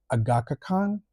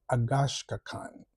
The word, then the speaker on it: Agashkan: Yes, I uh I actually asked him how it's pronounced because I've been saying Studio Agakhan, but apparently it's Studio Agashkan.